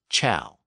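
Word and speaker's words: ciao: think about the word c i AO in Italian which is pronounced as Chow so the k sound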